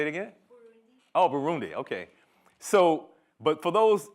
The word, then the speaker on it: Burundi: no how do you say it again Oh Burundi okay so but for those African descended people